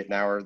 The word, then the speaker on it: Itnyre: me up on tiktok or linkedin at ednauer that's my name it's spelled i-t-n-y-r-e so that's played me my whole